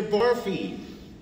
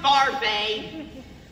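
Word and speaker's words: Barfée: Barfy. It's pronounced Barfay.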